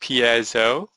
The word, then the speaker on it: piezo: or press it's pronounced PSO it has nothing to do with the pi unfortunately uh I know there's